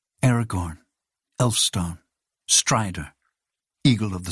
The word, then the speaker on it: Aragorn: I was wrong no that's Aragorn not Aragon it's spelled different and pronounced different you know tolken Vos